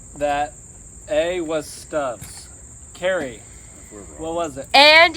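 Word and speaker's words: Stubb's: spicy and it's also stubs it rhymes with grubs and it's from Texas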